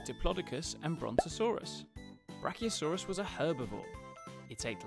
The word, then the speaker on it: Brachiosaurus: Brachiosaurus. Brachiosaurus. How do you say that again? Bra-chi-o-saurus.